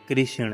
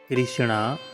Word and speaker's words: कृष्ण: पति के कारण उन्हें कृष्ण कहा गया है। हरि भक्तों कृष्णा उच्चारण गलत है। कृष्णा नाम भू देवी का है और द्रोपदी का है। परब्रह्म भगवान श्री कृष्ण का नाम कृष्ण है।